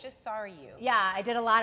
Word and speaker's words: Sarayu: Sarayu.